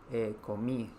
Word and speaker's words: comí: Eh, Cantar sería cantai. Comer sería comí. recordar que la S no se pronuncia en español de Chile y vivir se pronuncia viví.